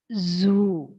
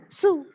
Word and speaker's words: zoo: over here it is zoo zoo z sound should come z z sound okay so it is Zoo but people tend to prounce it as Su I went to a